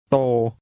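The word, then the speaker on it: โต: จ ง ฟั ง แ ล ะ พู ด ต า ม โ ต โ ต โ ต That's pronounced with a mid-level tone.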